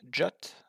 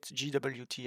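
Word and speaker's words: JWT: You can pronounce JOT, but I will call it GWT, I guess. Maybe JOT, maybe I will switch between the two.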